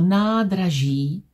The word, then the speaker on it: nádraží: Vím, že čárka znamená, že A a I vyslovím dlouze. Vím, že háček znamená, že Z vyslovím měkce. Ž. Když říkám slovo nádraží, říkám ho správně.